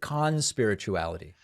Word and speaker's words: Conspirituality: Is that the way you say it, or is it conspirituality? We usually de-emphasize the first syllable, but we can talk about why. Conspirituality is good.